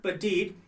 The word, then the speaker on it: petite: It's a disyllabic word, petite.